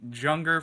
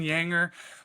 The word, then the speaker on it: Juenger: I called him Junger forever, but yeah, Hayden Yanger was one of my